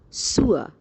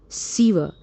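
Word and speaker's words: sewer: word s e w e r the correct pronunciation is sua not siva and it means drainage okay so let's start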